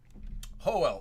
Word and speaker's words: Joel: Is it pronounced Yoel? Nice. Like Yoel Romero, the fighter. Hoel. Oh, yeah, that's right. I forgot. The Y's and J's are different.